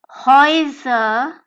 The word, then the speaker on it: Häuser: So going further, we can have double vowels combination of the alphabets A and U, which will be pronounced as OI, as in OI, or OI as in OY. And this OI sound can be